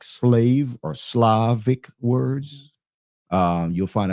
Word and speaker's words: Slav: When you deal with the word Slav, that's mispronounced as slave, then it takes you back to the proper root of the Slavic people and the Slavic countries, right?